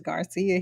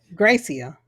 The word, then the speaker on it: Gracia: it was interesting because garcia his wife she was like you know it's great yeah gracia oh yeah from gracie or his wife you thought it was garcia because of how it's spelled yeah i'm not dyslexic